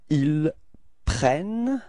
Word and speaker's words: ils prennent: Okay, so you can notice that the first E of prennent is pronounced like E, E. And the reason for that is that you've got a double N after that, so it changes the pronunciation of the E, okay?